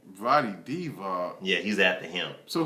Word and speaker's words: Vlade Divac: He is after Valley Divac. Say his name? Vlade Divac.